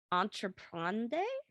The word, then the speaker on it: entreprendre: Entreprendre? You want to spell that one? I'll spell it. ENTREPRENDRE. Oh, DRE is tough because it's like, it's in the back of your throat, yeah.